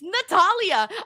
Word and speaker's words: Natalia: It's not what we prefer. It's what her name is. Yeah, what's her name? It's Natalia.